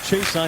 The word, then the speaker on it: Chiasson: Chiasson's name widely pronounced Chason. He said he's okay with that. But when we talked to him in November, he would prefer Chiasson.